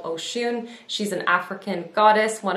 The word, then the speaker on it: Oshun: shade right here and this shade is called oh shoon i hope i am pronouncing that correctly now i do apologize i